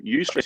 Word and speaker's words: eustress: this thing called eustress eustress is spelled e-u-s-t-r-e-s so u-stress is a positive form of